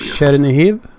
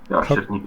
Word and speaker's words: Chernihiv: I'm gonna butcher the pronunciation here, but yes. Chernihiv. Yeah, Chernihiv. It's it's basically one region of Ukraine. Isn't that the city north of Kiev? Chernihiv.